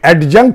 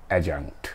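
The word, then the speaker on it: adjunct: প্রনান্সিয়েশন টা সাইলেন্ট হবে এডজাঙ্ক হবে না এটা হবে এজাঙ্ক ওকে সো অ্যাডভার্বিয়াল বা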